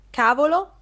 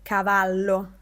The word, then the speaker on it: cavallo: In quel momento ho imparato la differenza tra cavolo e cavallo. Eh sì, qui la pronuncia è importante. Non bisogna correre perché altrimenti non si dice cavallo, si dice cavolo.